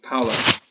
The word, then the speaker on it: Paolo: And then I've said his name wrong already. Paolo. I don't know how to say his name. Paolo? Paolo, exactly.